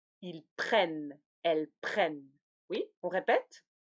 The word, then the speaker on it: prennent: Ici, la terminaison ne se prononce pas. Ils prennent, elles prennent. Oui, on répète. Je prends, tu prends, il, elle, on prend, nous prenons, vous prenez, ils, elles prennent.